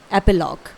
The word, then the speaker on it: epilogue: है one word में एपिलॉग। Spelling है EPILOGUE, इट इज एपिलॉग। ध्यान रहे, इसे आप एपीलॉग नहीं बोलेंगे, ये गलत प्रोनाउंसिएशन हो जाएगा। इसे आपको सिंपली प्रोनाउंस करना है एपिलॉग, ठीक है।